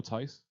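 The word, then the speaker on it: Theis: i think the t i think the h is silent daniel tyce yeah it was first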